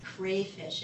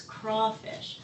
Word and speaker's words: crawfish: talk about the project, they pronounce this as crayfish. It's crawfish. Those are crawfish, not crayfish.